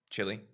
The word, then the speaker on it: Chile: Chile. Chile or Chile, if you're speaking Spanish.